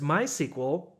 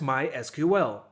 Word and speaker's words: MySQL: story with my sequel you can pronounce it as my sequel or as my SQL because even Microsoft mentions in the official documentation that we do not mind if you pronounce it as my sequel or in some other localized way we will find out